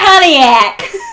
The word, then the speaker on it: Pontiac: That definitely came in without the T Yeah. and that Midwestern A. Pontiac. Pontiac!